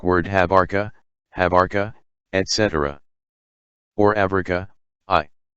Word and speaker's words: Africa: only an accidental consideration as for the word africa or as the arabs pronounce it afrikia which seems to have